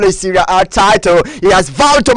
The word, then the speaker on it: Serie A: Some individuals are called Italian Serie A, Serie A. Please, it's not really called Serie A, it's called Serie A. That A is not pronounced literally, it's pronounced as A, Serie A, not Serie A.